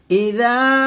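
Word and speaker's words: إِذَا: এখানে দেখুন ইযা জাল আলিফ জবর যা, এখানে এক লিফ টানো হবে, তবে এর মাখরাজটা হচ্ছে যখন আপনি জালটা উচ্চারণ করবেন জিহ্বার আগা সামনের উপরে দুই দাঁতের আগার সঙ্গে লাগিয়ে জালটা পাতলা করে উচ্চারণ করবেন।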